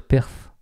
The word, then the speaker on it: Perth: temps la ville de perth ça s'écrit pas pareil c'est p rth faudrait dire perf nous retournons au 20